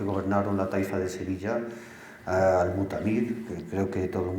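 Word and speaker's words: al-Mu'tamid: rey al mutamid que en realidad se debe pronunciar como al mutamid ibn abbad la familia Dead paseaba también por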